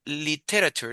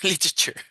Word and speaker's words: literature: Mira, es literature, literature. Ay, qué Literature. difícil. Ya, literature. Literature. Ya, liter, como de litro. Li- ya. Literature. Liter a Sure. chur. Sí, tres sílabas. Ya.